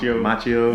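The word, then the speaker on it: Macchio: Machio.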